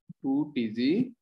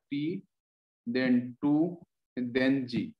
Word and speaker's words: t2g: इसको बोलने का जो है ना सिस्टम वो क्या है, 2TG ऑर्बिटल्स। बहुत बार इसको 2TG बोलते हैं, T2G बोलते हैं, क्या बोलना, तो इसका सही होता है T देन 2 देन G।